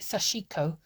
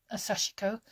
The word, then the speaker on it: Sashiko: As far as I'm aware, the Japanese don't have very much intonation in their words, so I used to call it Sashiko. But that's not how they pronounce it when you watch sort of some of the Japanese videos.